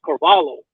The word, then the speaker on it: Carvalho: And then it's Carvalho, and it's got an H in it, right?